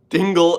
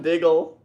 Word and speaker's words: Diggle: Hey, man, it's not Dingle. LMAO. It's John Diggle.